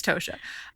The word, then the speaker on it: Tosha: San Francisco Examiner and Tasha Tasha Tasha I think it's Toshiya I think people say it wrong and so I get it confused it's tosia she is really funny